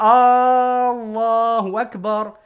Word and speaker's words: Allahu Akbar: Ils vont dire Allahu Akbar. Et le fait d'allonger le Allah dans Allahu Akbar, c'est poser une question.